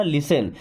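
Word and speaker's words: listen: देन लिसन टू मी देखिए यहां पे टी भी लिखा है लेकिन हमने इसे पढ़ा लिसन क्योंकि टी यहां पे साइलेंट होता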